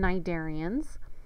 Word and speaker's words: cnidarians: So cnido, the C is silent, just like in cnidarians, means stinging, and cyte means cells.